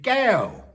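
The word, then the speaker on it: แก้ว: met a woman named Gale, pronounced like G with a long vowel and a falling tone, which means crystal in Thai.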